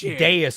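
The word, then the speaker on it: dais: Also, uh it is it is pronounced deis. Apparently, it originates from the middle English word de days. Uh deis. That's why it's pronounced like that.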